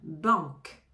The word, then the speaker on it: banque: artiste banque banque banque on prononce pas le E final on prononce comme un K à la fin banque banque un bus bus